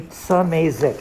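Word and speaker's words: Szymaszek: Samazek.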